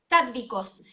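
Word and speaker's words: sáttvicos: Sádvicos. Se escribe Sádvicos.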